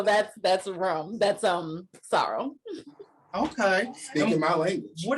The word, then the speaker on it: Sorrel: most americans will say sorel but the way we pronounce it it sounds like sorrow like s-o-r-r-o-w and so i was